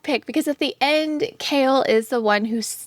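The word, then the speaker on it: Chaol: a comment that said, "I won't fall for Kale simply because I don't know how to pronounce his name." Because at the beginning, I think I was literally calling him Chowel.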